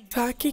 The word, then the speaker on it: ثاء: আরবিতে সা এর উচ্চারণের পদ্ধতি হচ্ছে জিহ্বার অগ্রভাগ উপরের দাঁতের ভিতরগত কিনারা হতে উচ্চারণ হয়। আসুন আমরা আরবি ভাষায় সাকে কিভাবে পড়তে হয় সবাই মিলে আমরা তার উচ্চারণ করি।